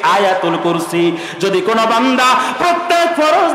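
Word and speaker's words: آية الكرسي: 255 255 নম্বর আয়াত, যারা বাঙালিরা কয় আয়াতুল কুরসি, এটা বিকৃত উচ্চারণ, এক্সাক্ট প্রোনাউন্সিয়েশন হচ্ছে আয়াতুল কুরসি।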